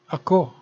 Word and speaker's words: ako: sila always pronounci fast ako means i or me take note of the stress mark in ako the word is always pronounced fast if pronounced it would